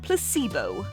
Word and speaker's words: placebo: to our vocabulary today repeat after me Placebo the stress is on the middle syllable it's Blended it's so